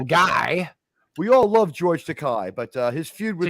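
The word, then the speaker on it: Takei: we all love George takai but uh his Feud was okay it rhymes with toupee we all love George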